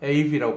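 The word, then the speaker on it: Ave: 아베 마리아라는 말이, 예, 아베란 말이, 예, 아베가 에이브라고 발음해요.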